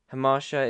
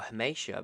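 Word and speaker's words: hamartia: Hamasha is a character's tragic flaw, or Hamasha, but this is spelled with an R. I thought it was Hamasha.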